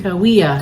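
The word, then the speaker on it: Cahuilla: That was really Kawaiia, that's how you say it. Kawaiia, it doesn't look like it.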